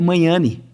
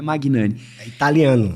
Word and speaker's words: Magnani: né o meu nome a pronúncia correta é Mayane não é Magnani italiano então não estão lá